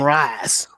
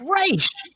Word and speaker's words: Ra's: you look at the Batman animated series, they pronounce it as Ra's al Ghul, but the Nolan films, they call him Raz. And that drives me up the wall because it's like, it's Ra's.